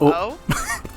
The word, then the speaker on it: eau: how it is spelled it's like Eau but it's pronounced oh yeah what do you